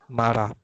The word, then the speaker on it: marah: Marah, so H is silent. Marah.